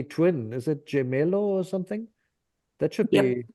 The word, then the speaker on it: gemello: Is it gemello or something?